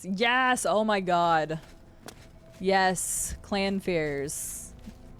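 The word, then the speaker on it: Clannfear: Yes, oh my god, yes, clan fears. I used to call them clanifers when I was younger until I actually, you know, figured out how to pronounce their names, which to anybody around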